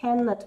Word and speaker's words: cannot: от других модальных глаголов, потому что если во всех других у нас ударение на not, да, must not, should not, то здесь, конечно же, то есть первый слог cannot, вот это вот такая тоже типичная ошибка.